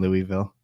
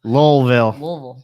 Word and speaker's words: Louisville: really great snake people in general and in Louisville sorry I didn't say we pronounced low level yeah I was saying all right I kept